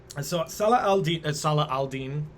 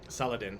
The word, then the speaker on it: Saladin: so uh salah aldine saladin is how we pronounce it okay in the westernizations